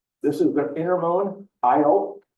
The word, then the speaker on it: Io: is the inner Moon IO it's spelled just like it sounds it's IO and it's a tortured